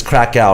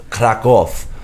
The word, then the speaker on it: Kraków: In English, it's Krakow, right? That's how you say it. It's Krakow. In Polish, it's Kraków.